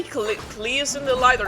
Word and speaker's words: Klee: Probably Blaze in the light, because Klee is pronounced Klee and not Clay, just because I'm freaking German.